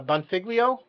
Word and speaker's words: Bonfiglio: his last name uh is it bonfiglio yeah the hardest name we have so yeah it